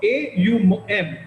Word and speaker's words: AUM: It is for me, for this particular meditation, these are the separate words, and we need to pronounce it separately.